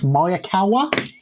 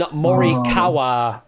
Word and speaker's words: Morikawa: It's Colin, and I think it's Mayakawa. Oh, you know what? That's pretty close. Yeah. It's Colin Morikawa is what we're looking for there. So yeah, pretty damn close to the pronunciation there.